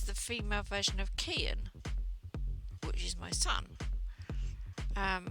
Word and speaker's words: Kianne: this yeah um but it's not pronounced cayenne even though it looks looks like it's spelt cayenne it's k and i in it the k and the i is a cut an e yeah but you put them together and that pronounces an e so it's and yeah kian so whenever i anybody